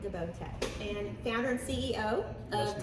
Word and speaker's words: DeBoTech: great because I would have been pronouncing it DeBoTech, and I know Yes. that's incorrect now. It's DeBoTech. Am I correct? DeBoTech is correct. DeBoTech, and founder and CEO Yes, of ma'am.